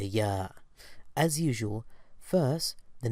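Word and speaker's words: ي: in the word yes the Y of yes reminds me of the Y sound of the y now let's practice pronouncing the letter yah as usual first the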